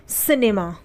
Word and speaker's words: cinema: उसी तरीके से CINEMA, तो यहाँ पर भी सी के आगे आई है तो सी का उच्चारण क्या हुआ? स हुआ। ठीक है, सिनेमा, CINEMA, सिनेमा।